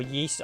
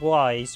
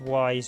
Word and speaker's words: Ys: at some point for yeast i call it wise rather than yeast but technically it's pronounced why is not yeast because yeast would have been how strange if you